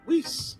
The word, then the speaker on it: Weiss: Weiss. Sir. Rhymes with nice.